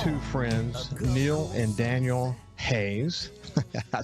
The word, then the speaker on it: Haas: friends neil and daniel hayes i said it their name wrong at the beginning it looks like hoss but it's pronounced haze and uh i will